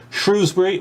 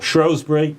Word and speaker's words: Shrewsbury: the river seven bristol and off that way shrewsbury or shrewsbury people argue endlessly about which way you're supposed to pronounce that um heads off i'm imagining towards